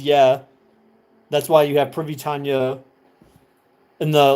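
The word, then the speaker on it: прывітанне: And you would imagine it's spelled uh, in English, translated as PRY essentially, pri, and then VITANNE basically is how it's pronounced. But like the two N's are like a nya, or no, it's a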